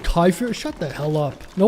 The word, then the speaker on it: kefir: Kefir is said like Kyifer.